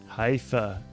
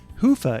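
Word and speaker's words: Hyvä: Commerce is sponsored by hia or as the Europeans say Hua or the right way to say it Hua is rapidly becoming the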